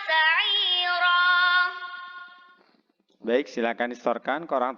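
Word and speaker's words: سَعِيرًا: Wa yasla sa'ira. Yang perlu diperhatikan di sini yang pertama wayaslah ya. La-nya panjang satu ayunan. Kemudian sa'ira. Ainnya panjang satu ayunan dan ro-nya juga panjang satu ayunan ya.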